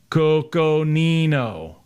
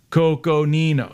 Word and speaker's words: Coconino: so i gotta go real slow coco nino cause i like to go fast coco nino see what i did there i slowed it down for those of you